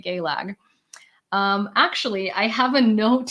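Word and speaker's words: Gaeilge: Like, so it's actually, just so you know, Gaelic is pronounced as Gaelag. I mean, literally, an Irish person that I know very well doesn't say Gaelic. They say I speak Gaelag.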